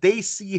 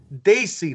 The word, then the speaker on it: Desi: Desi, not Desi. For God's sake, put that pronunciation down right, please.